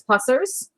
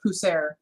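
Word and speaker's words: Pusser's: But anyway, I wouldn't normally pick that up, but I believe it's actually pronounced Pusser.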